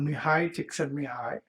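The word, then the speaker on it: Csikszentmihalyi: u a researcher called Mii said me high he does his name spells differently from how it sounds but it's easier to to say it than to actually spell it so go look it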